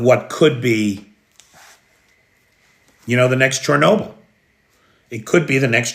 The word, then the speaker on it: Chernobyl: And for anybody who thinks I'm saying Chernobyl weird, it's just like Kyiv and Kiev. I have adjusted myself to the Ukrainian pronunciation of Chernobyl.